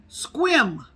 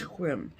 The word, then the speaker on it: Sequim: Squim, Washington. Squim. But it's spelled like Sequim, but it's pronounced Squim. She says Squim.